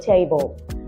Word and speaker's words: table: to mention the word table. I should be able to add elocution to that pronunciation by stressing tay in the word table because it adds the stress on the first syllable.